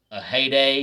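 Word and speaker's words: Ehire: adrianza i believe his first name is officially pronounced a heyday even though it's pronounced a heyday it's spelt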